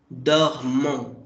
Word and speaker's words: dormons: Nous dormons. Dormons. Like DOHMON. Dormons.